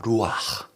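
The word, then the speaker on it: רוּחַ: 불어넣으시니 사람이 성이 된지라 히브리어로 생기는 발음이 좀 힘들 수도 있어요 현지인 발음이에요 루아 루아네 루라는 말은요 어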